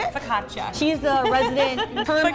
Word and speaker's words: focaccia: like a soup and then we have the focaccio pizza is that how you say it focaccia she's the resident of person i always get